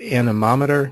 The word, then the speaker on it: anemometer: pronunciation for the word the anemometer comes from the word Greek animos which means the wind so these are basically wind meters so if we pronounce it there to yourself anemometer that's the way you pronounce that word excuse me one second